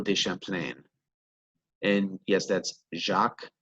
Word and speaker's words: Jacques: champlain and yes that's jacques not jaquise i've had plenty of students pronounce it that way that is not the french way of pronouncing the name now jacques cartier he